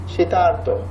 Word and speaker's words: শীতার্থ: এই দেবর্ষি আর শীতার্থ দুটোর উচ্চারণ আলাদা কিনা খেয়াল করে দেখো। দেবর্ষি, দেবর্ষি মাঝখানে অর, শীতার্থ মাঝখানে আর, ক্ষুধার্ত আর, তৃষ্ণার্ত, ভয়ার্ত, ক্ষুধার্ত মাঝখানে আর। বাট ওই পাশে যখন তুমি যাবা, মহর্ষি, মহর্ষি মাঝখানে অর।